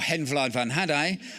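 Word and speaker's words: Hen Wlad fy Nhadau: sung in Welsh, or Hen Vlad van Hadai, or phonetically My Hen laid a haddock.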